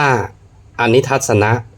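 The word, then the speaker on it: อนิทัสสนะ: 1 คาถา นะ ครับ อ่าน ว่า อนิ ทัสสนะ อัปปะติ คา ะอ อุ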